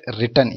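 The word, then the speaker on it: read: thought கற்றுக்கொடு, right wrote written எழுது, ரீடு ரெட்டு ரெட்டு அதாவது ரீடுன்னு இருந்தாலும் பாஸ்டன்ஸில் ப்ரொனவுன்ஸ் மட்டும் மாறும், ரெட்டு ரெட்டு வாசி, வின் ஒன்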